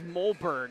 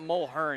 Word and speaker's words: Mulhern: I thought it was Mulberg, not Mulhern. It's Mulhern.